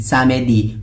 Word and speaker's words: samedi: Samedi, pronounced as samedi.